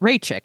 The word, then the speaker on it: Raichik: a person name uh I wrote it down corre phonetically here for myself Chia Ray Chi yes that's right Ray chick I got it right that's who we're going